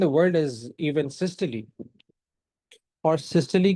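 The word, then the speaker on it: systole: Cardiac cycle is basically the time from one atrial सिस्टली to another is pronounce सिस्टली नॉट सिस्टोल।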